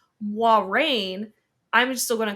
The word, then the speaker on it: Moiraine: which I just learned this is how you pronounce her name, Moiraine, I'm still going to call her Moiraine.